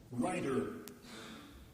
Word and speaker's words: rider: Writer. Writer. So that's an unvoiced or voiceless pronunciation, and the same word. Rider. Rider. With a voiced t in the middle.